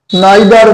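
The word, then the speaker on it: neither: নেই আমি এখানে আন্ডার করে দিলাম নাম্বার এইট নাইদার উচ্চারণটা নিদারও হয় নাইদার লতা নর পূজা dash present in দা meeting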